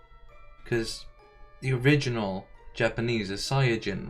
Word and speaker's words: Saiyajin: there was like a big discussion about the pronunciation of Saiyan, because the original Japanese is Saiyajin, right?